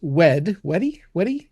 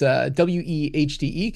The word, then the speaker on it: Wehde: Andrew, believe it's pronounced Weedy. It's Wehde.